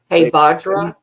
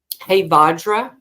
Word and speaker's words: Hevajra: You could call in Hevajra. How do you say that name again? Hevajra. Hevajra. How do you spell it?